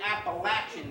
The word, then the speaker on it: Appalachian: Because in the Appalachian Mountains, actually Appalachian Mountains, if you're over there, that's how the way they pronounce it.